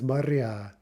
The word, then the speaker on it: моря: Okay, so for two-syllable neuters, we expect in the nominative plural the stress to jump to the opposite syllable. Remember this? So окно in the plural becomes окна. Море becomes моря.